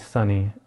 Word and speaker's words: Sunni: My daughter's name is Sunni, and that's spelled S-U-N-N-I.